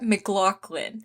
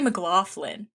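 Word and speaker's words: McLaughlin: MJ, how do you say it? Scott McLaclin. But I always say Mclofflin. That's my bad.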